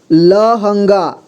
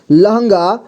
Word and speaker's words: लहंगा: London London लंबाई लंबाई लहंगा लहंगा ल ल इसके बाद ह में अं की मात्रा हं इसके बाद ग ठीक है लहंगा लांछन लांछन कांग्रेश कांग्रेस ठीक